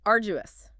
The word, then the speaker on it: arduous: Okay, number 4, arduous. A-R-D-U-O-U-S, pronunciation. Stress on the first syllable.